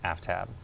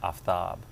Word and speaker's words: Aftab: pronounce my name and i pronounce my name aftab um and that disappoints some people particularly some south asians that i don't go by aftab and and the only